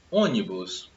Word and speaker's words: ônibus: Ônibus. Temos acento em ônibus? Temos, né? Aqui seria uma sílaba, né? Ni, bus. A sílaba tônica é o O, ônibus.